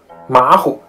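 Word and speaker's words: 马虎: 不像话，而是应该还是第一个字读成三声的这种变声，也就是实际上还是三声的感觉，再加轻声，姐姐、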